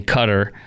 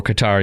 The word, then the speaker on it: Qatar: Hamas politicians remaining in Cutter or Qatar you can pronounce it both ways Hamas politicians remaining in